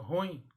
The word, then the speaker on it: ruim: pessoas as pessoas pronunciam ruim e é mais a pronúncia correta era uma palavra oxítona portanto o yin é a sílaba que deve ser pronunciada mais forte é então em vez